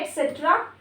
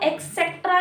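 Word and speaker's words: et cetera: है, ETC बोलते हैं, उसकी फुल फॉर्म होती है एटसेट्रा। एटसेट्रा, एक्सेट्रा नहीं होती, एटसेट्रा होती है, स्पेलिंग ये होती है ETCETERA, ठीक है।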